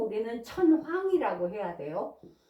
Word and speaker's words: 천황: 꼭 우리는 천황이라고 해야 돼요. 난 이게 싫어서 천왕 이렇게 저는 발음해요. 그런데 이게 공식 명칭이래요. 그래서 어쩔 수 없이 천황이라고 사용하는 게 맞다고 하네요.